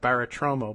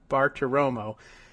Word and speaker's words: Bartiromo: I think I've always thought out loud when I see the name that it's like Bartiromo, but it's not. I'm now looking at it, Bartiromo.